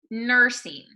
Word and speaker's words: nursing: nursing practical nursing good so this u in nursing um it's going to sound a little bit more like an er instead of a ur so that that er sound a lot of times when we see a u we want to go uh or uh but here we're doing an an er nursing good and then practical